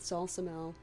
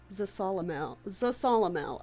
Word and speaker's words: Zasalamel: I parted ways with Zalzamel at the castle, and soon ran into Dion and Natalie. The reason I keep pausing is because Zasalamel. Okay, Zasalamel. I was been pronouncing that wrong this whole time.